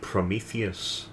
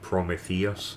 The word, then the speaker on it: Prometheus: was the myth of Prometheus yeah I I don't think I saw it and I I Rose remember I um I pronounced it at the time promus but um when I